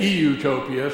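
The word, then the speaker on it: eutopia: What future studies is something that helps people envision and move towards, well, it's pronounced utopia, but I say e-utopia so that people will understand I'm talking about the best possible real world you can imagine.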